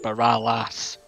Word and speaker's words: Baralis: It's because I'm Scottish, I don't pronounce the last A, but it's Baralas.